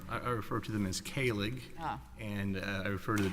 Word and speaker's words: Kahlig: I refer to them as Kahlig, and I refer to the defendant just as